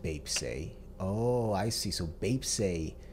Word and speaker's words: Baepsae: interesting BTS often calls themselves as cro titits pronounced Bap oh I see so Bap is the Korean